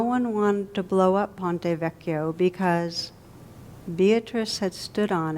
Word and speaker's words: Ponte Vecchio: standing near the the ponte veshio am i saying it right it's the bridge does anybody know vecchio boy i cremated that one i have a reputation for bad pronunciation ponte vecchio thank you a bridge